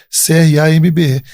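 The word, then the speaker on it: crambe: cramb olha só tá e o cramb escreve como eu pronuncia mesmo né cra mbe então é uma planta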